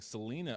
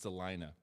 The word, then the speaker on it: Celina: piqua or celina oh i kept mispronouncing it saying selena ohio it's delina and uh they were